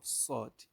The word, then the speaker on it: صاد: with the pronunciation of sword. Sword, sword, sword. That's the main difference between two of them. This is sword, just like that S letter.